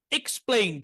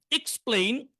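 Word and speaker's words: explain: উচ্চারণ হার কথা প্লেন কিন্তু এস এর পরে আসার কারণে এটার উচ্চারণ হবে পিলেন এক্সপ্লেন এক্সপ্লেন এক্সপ্লেন ব্যাখ্যা করা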